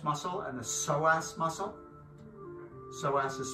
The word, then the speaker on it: psoas: elongating the quadriceps muscle and the psoas muscle psoas is spelled with the p p s o a